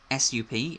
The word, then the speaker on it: sup: So you write sup, S-U-P, and it's pronounced sup.